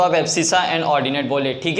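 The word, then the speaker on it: abscissa: कुछ चैनल वाले या कुछ बुक में एब्सिका बोलते होगे, हमें ऐसी गवार बातें नहीं करनी है, हमें एब्सिसा ही पढ़ना है। क्यों बच्चों? क्योंकि इसका प्रोनाउंसिएशन क्या है? एब्सिसा। कोई एब्सिका इसको नहीं पढ़ेगा, ठीक है।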